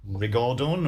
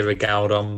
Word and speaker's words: rigaudon: I think I'd say Rigaudon, but I could be wrong. Rigaudon, okay.